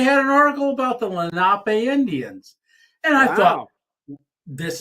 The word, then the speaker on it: Lenape: for a a Solar Company it was called Lenape solar oh that's how everybody pronounced it but it's not it's Lenape and I work I work for them as